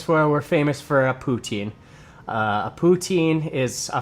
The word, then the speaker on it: poutine: we're famous for a poutine. Uh, a poutine is a French word. Um, putin is how they would pronounce it in French, but it is fries.